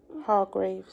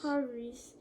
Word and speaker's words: Hargreaves: Man by Roger, how do you pronounce that word? Hargreaves. Hargreaves.